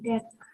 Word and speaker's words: deque: Nah, di sini diucapkan deck atau antrian dua ujung adalah struktur data seperti Q yang mendukung penyisipan dan penghapisan di kedua ujung depan belakang.